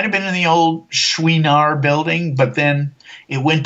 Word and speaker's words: Chouinard: Everybody thinks it's Chenard, and everybody says Chenard, but the way Mrs. Chenard pronounced it was Chouinard, because it's French.